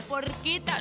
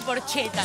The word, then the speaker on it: porchetta: una porqueta. Nosotros no, Diego Ferraro. Sí, está Raúl Porchetto. No se dice porcheta, no. Porqueta.